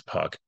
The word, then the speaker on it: Puk: Puck I believe that I don't think it's puke I think it's Puck um I'm sure to